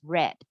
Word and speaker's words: read: but in this case it's a past tense so we pronounce it as red this story is the